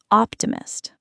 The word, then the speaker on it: optimist: The stress moves to the first syllable. Optimist.